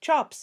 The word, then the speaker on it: chaps: huge with great hanging chaps which were pronounced chops you know on both